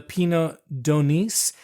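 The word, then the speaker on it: Pineau d'Aunis: So now I don't know anything about this wine, the Pinot d'Aunis, and you do pronounce the S.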